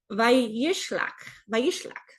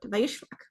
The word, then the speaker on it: וַיִּשְׁלַח: Okay, so Vayishlach, that's how you say it. I just got to slow down and think it out. Vayishlach.